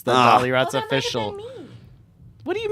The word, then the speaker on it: Dollyrots: are at Dolly rots the dolly rots oh yeah oh oh right I said it wrong yeah it's it's just